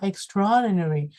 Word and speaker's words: extraordinary: cái từ này nhá, extraordinary. Đó, thì con sẽ thấy cho cô là extra đúng không ạ? Trọng âm là tra. Đó, và nó không hề có âm a đúng không?